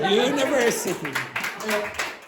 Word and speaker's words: university: How many syllables does that word have? Univer. So, there are five syllables and you only had four. Okay. Okay. So three, two, one. Very good. University.